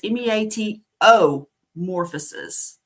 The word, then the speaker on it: Meatomorphosis: Long word, but it's MEATO morphosis. So that's how you My spell it. It's not metamorphosis. A, it's not meat I, it's meatomorphosis. And I'm also on Instagram